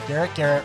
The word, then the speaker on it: Garrett: Garrett rhymes with ferret.